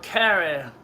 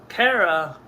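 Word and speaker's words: Carah: Kaylin was one of the ones that would later, another one would come in later called Kara. Kara is spelled C-A-R-A-H.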